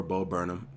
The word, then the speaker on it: Bo Burnham: you guys have been asking for some more bo burnham and yes I've learned that's how you pronounce his name something that was requested a